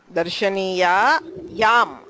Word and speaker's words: darshaniyayam: Darshaniya yam, like Ramayam.